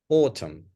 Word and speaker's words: autumn: will be shot in the Autumn AUM autum AUM Tom Tom like Tom S Autumn very well did you